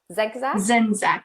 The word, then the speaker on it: Zenak: last name before this Zac Zac zenak the C is silent okay Trish zenak is